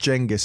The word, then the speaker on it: Genghis: How does he know it's pronounced Jenis and not Genghist then if he's Cuz there's no evidence, is there?